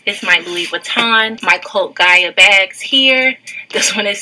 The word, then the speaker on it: Cult Gaia: First of all, I didn't know Cult Gaia was Cult Gaia. I always used to say Cult Gia. God, I've been saying it wrong all this time.